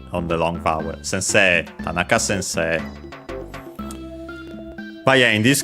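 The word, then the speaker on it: 田中: For example, here we have the examples here uh for Tanaka which is unacented uh very common Japanese surname uh it's accented then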